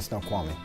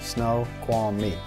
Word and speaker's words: Snoqualmie: often about life in Snoqualmie let's get right to it first up how do you pronounce snow yes Snoqualmie Snow qualm meat there you go easy as pie Snoqualmie is that the